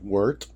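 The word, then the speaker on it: wort: Um, you're going to make some W, spelled W O R T, but pronounced Wart.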